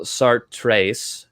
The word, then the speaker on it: Sartre: But the juxtaposition that I propose lays out the groundwork for Jean Paul Sartres, is how you pronounce his name, existentialist philosophy of bad faith.